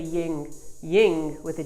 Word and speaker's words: yin: type all that good stuff all right so ying yin yang not ying yang yin yang a lot of people pronounce it wrong i just did no worries